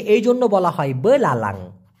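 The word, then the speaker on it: belalang: কে এইজন্য বলা হয় বলা লালাং ব লা লাং না বুঝলে অবশ্যই বলবেন উচ্চারণটা হবে বলা লাং এই বলাং মানে হচ্ছে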